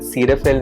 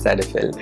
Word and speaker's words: Cetaphil: cetaphil cleansing lotion and yes it's pronounced cedar fill not cellophane so like seatile alcohol